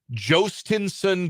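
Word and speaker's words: Jhostynxon: There's a prospect for the Boston Red Sox whose name is Joinson Garcia. And Joinson is spelled J H O S T Y NX O N.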